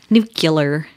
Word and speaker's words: nuclear: at some point too it's spelled the same just pronounced differently right nucular I think it was